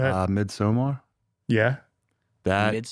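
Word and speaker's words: Midsommar: Uh Midsomar. Yeah, that midsummer. Mid. Isn't it pronounced differently though? Midsummer. Am I wrong? It's Midsummer.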